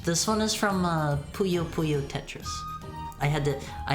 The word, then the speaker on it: Puyo Puyo: had to make sure you guys told me last time it is not pronounced poo poo I had to make sure to say it right thanks for the stream